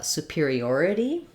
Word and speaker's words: superiority: about the word uh superiority so we have superior superior has stress on the peer syllable and then superiori already has stress on the or syllable so these differ let's